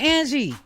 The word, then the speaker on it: esthetician: I don't offended by estheticians asterisms esthetician see I said it wrong I say aster Titian estheticians people who do the